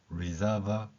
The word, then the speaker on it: reserve: like to 여기까지는 됐고요 그러면 앞에서 reserve 이렇게 하면서 거의 사라졌던이 소리가 뒤에 모음을 만날 때 reserve table 이렇게 발음이 되는 것입니다 그래서이 표현을 영어로 그대로 처음부터